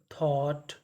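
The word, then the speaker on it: thought: अगर आपको कहीं पर GST लिखा मिले तो हम लोग GST को पढ़ते हैं टा। तो हमारा सेंटेंस देखते हैं क्या बना, ही का मतलब उसने, THOU थॉ, GST, इसे क्या पढ़ना है, टा। तो मीनिंग बनी थॉट, थॉट, थॉट का मतलब सोचा।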